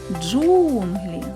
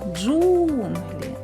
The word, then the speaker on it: джунглі: складів скільки голосних звуків визначимо куди падає наголос покличемо Джунглі Джунглі наголос падає на звук у А зараз